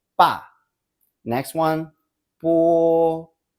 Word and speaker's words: bo: To make the transition smoother, a shorter U sound is inserted before O. However, Pinyin still spells it simply as Bo for convenience. So when you see Bo, B-O, don't pronounce it as Bo, Bo.